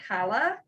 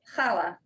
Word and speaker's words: challah: And just like challah isn't challah, it's challah, right? So there's but these are also, so just in like thinking about it, if you want to like try to start to like roll your R's a little, like, and